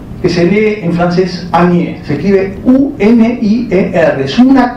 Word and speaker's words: unier: Y lo interesante es esto, que ese an, Lacan crea un neologismo y dice unier, que se lee en francés anier, se escribe U-N-I-E-R, es una condensación de an y de nier, uno que niega.